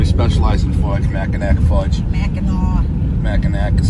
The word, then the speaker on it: Mackinac: fudge yeah they specialize in fudge mackinac fudge mackinaw mackinac is spelled mac and i so so it's just